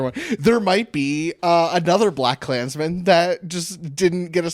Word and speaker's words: BlacKkKlansman: And then I say Blackkklansman, and people go, that's not how you say it. I've never been right. It's just Blackkklansman, one word.